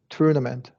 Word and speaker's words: tournament: And for tournament, we usually do a schwa r. Schwa r is the very beginning. Okay, tournament.